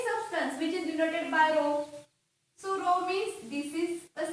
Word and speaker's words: rho: So density symbol rho means we pronounce this symbol like rho.